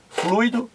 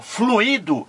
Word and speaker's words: fluido: sílaba fui retomo aqui o fluido é diferente fluído o fluido três sílabas fluido duas sílabas fluido três sílabas olha